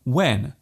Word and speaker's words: when: There is actually no need to pronounce the H so strongly.